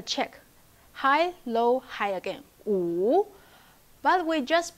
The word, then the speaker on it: 五: 五 The original tone is 五, like a check. High, low, high again. 五. But we just pronounce the first part during the conversation.